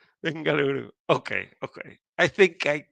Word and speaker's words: Bengaluru: Bengaluru or Bangalore or what is the correct pronunciation. It is Benaluru. Bengaluru.